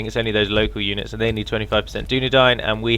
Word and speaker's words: Ye: it is actually pronounced the um because it's called a thorn the y letter is called a thorn for some reason in Old English and so whenever you